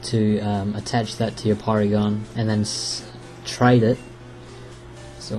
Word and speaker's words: Porygon: it was going to evolve poly it's not poly Porygon I think his name is polygon in the Japanese version but they pronounce it as Porygon anyway um that's all